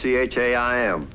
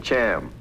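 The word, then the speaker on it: Chaim: started on the thing Dr Whitman's first name was Chim not I didn't know how to pronounce it so I called him Cham called him that to his face and he liked it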